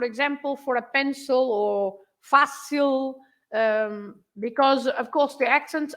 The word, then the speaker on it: fácil: So fácil has an accent on the first part of the word, but that means that you have to stress fa, right?